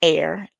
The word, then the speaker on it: Er: birth to Three Sons one is named air not I not a not a i r but e r like e e or you know what